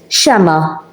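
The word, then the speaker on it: xemgħa: The ein is silent, shama, and the apostrophe, and the ein is silent.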